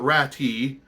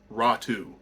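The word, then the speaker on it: Räty: Prospect ottu rattu not rati um you know it's it looks like it's ratty but it's actually pronounced ratu so ATI ratu strange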